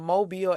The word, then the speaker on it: Mobile: So So you told us you are from Mobile, Alabama. It's not pronounced mobile or mobile. No, Mobile, Alabama.